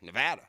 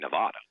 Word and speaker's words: Nevada: Nevada. It is. And thank you for pronouncing Yeah, correctly. Of course, if Dan were there, he would say Nevada.